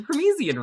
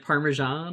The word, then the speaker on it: Parmesan: I used I used a Promezian rhyme. That's how you say it. Permesian. Okay. Yeah. What do you think? It's pronounced Parmesan.